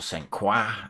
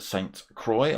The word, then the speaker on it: Sainte-Croix: So we start tonight with Sainte-Croix B, or Sainte-Croix, I think it's pronounced, B.